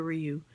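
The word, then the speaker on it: Riu: The hotel, I stayed at the Rio. I done heard so many different names or how they pronounce this shit. It's spelled R-I-U.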